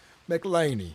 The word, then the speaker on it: McLainy: Is that how you pronounce Mr. Mlin? Mlaney.